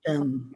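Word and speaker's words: amṛtam: And then when you have the R with a dot underneath it, it is pronounced as Ri, like Rishi. It's a Ri for Oh, Rishi. mritam.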